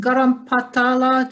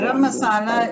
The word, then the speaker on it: garam masala: good yeah can you tell me about this garam patala that spice what you told me i'm sorry i didn't pronounce it yeah it's a very popular garam masala is based on the indian region like southeast